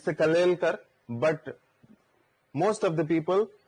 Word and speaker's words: Kalelkar: So generally, it's the Kalelkar, but most of the people will pronounce the name it as Kelkar.